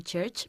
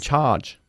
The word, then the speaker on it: charge: speak to the person in church please in charge in charge charge charge charge you have to drop your jaw okay charge charge are